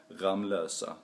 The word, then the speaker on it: Ramlösa: how we're supposed to pronounce the bottle water ramlosa and let me be very clear since I live in ramlosa that it is supposed to be pronounced ramlosa nothing else and I can also tell you